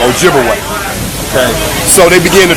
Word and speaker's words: Ojibwe: twice and of course they corrupted the pronunciation of those Ojibwe people to Chippewa absolutely so Chippewa and Ojibwe that's the same people wise the European Corruption of their real name Ojibwe okay so they begin